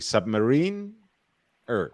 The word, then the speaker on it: Submariner: point by the way that is the correct pronunciation submarine yeah no one says it that way i know but that that is actually submarine er that's that that's actually that's the english yeah yeah confirmed by rolex representatives of the time